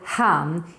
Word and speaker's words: han: Don't mix it up with han, even though it's pronounced exactly the same. We just add an extra n for han.